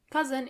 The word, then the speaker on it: Cousin: Cousin in plural, you have to add a French pronunciation to it.